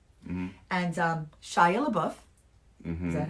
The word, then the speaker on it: Shia LaBeouf: And Shia LaBeouf, Mm-hmm. is that how it, did I say it right? Yeah, Shia Shia LaBeouf.